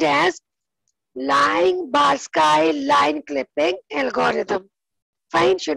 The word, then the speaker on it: Liang-Barsky: This is pronounced as Liang-Barsky line clipping algorithm.